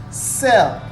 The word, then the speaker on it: cell: by e here you don't say kel you say sell cell here it is followed